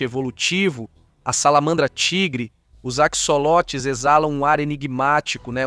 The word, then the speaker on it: axolote: O axolote ou axolotel, como muitos tentam pronunciar, ambistoma mexicano, é uma